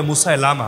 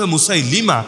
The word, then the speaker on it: মুসাইলিমা: জনের নাম হলো মুসাইলিমা আমাদের অনেকে বলে মুসা লামা এটা ভুল উচ্চারণ উচ্চারণ মুসাইলিমা যার নামের সঙ্গে যুক্ত